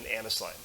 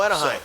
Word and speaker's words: Anaheim: I actually think it was in California in Annisline. Oh, Anaheim. So, That's right. That's how it's pronounced.